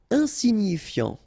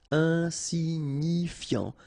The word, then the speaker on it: insignifiant: Insignifiant. Okay, final T not pronounced, so you've got this I-A-N, yan, so F before, fiant. Insigni, okay, remember, G-N-I, ni, ni, insignifiant, insignifiant.